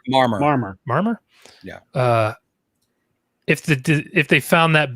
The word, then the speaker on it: Marmor: How do you pronounce his last name? Marmor? Marmor.